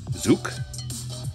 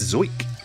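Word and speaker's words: Zuch: like yoink zoick i looked it up i listened to the announcer say his name because it was frustrating i'm looking at that just going i got nothing zuk zlick zank what is it nope it's zoek terrible auto nina's teaching coming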